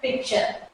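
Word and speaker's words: picture: Question, नेचर, पिक्चर। Word में टी के साथ एच आने पर का प्रोनाउंसिएशन चेंज हो जाता है।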